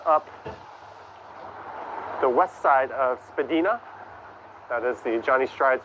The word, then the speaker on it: Spadina: We're heading north up the west side of Spadina. That is the Johnny Strides official pronunciation.